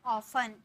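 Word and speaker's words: often: इसे हम बोलते हैं ऑफन बहुत सारे स्टूडेंट ऑफन बोलते हैं लेकिन यहां पर ना टी का उच्चारण नहीं किया जाता है बोला जाता है ऑफन ऑफन ठीक है ऑफन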